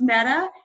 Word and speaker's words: Mehta: trademark it's you know your last name is pronounced Metta and doing b2b to be as a contact is very meta collaborate on something here